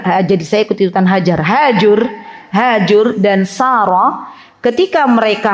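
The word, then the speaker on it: هاجر: kalau orang Indonesia itu hajar gitu ya ketika kami diaman tetangga kami itu ada namanya hajur jadi bacanya kalau orang Arab itu hajur bukan hajar Bu Hajar nanti dihajar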